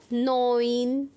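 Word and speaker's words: neun: is rule number fourth E यू अगर combination आएगा तो उसे हम पढ़ेंगे ओए हिंदी में भी मैंने लिख दिया ओए तो साउंड हो जाएगा उसका नोइन जैसे कि नाइन को पढ़ते हैं नोइन तो इसमें किसका साउंड आ रहा है ई यू का आ रहा है तो नो ओ न नोइन ऐसे ही टी एस सी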